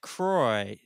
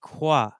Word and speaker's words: Croix: yes in the u.s it is pronounced kroy to rhyme with soy or toy or boy but in the rest of the world it's pronounced quoi what so i've been